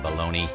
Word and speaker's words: Bologna: That's right, hide your shame, bologna.